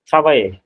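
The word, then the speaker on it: travaillez: থ্রা হুম, মানে ইয়ারটা ট্রাভাই, TRAVILLEZ, উচ্চারণটা ট্রাভাইয়ে।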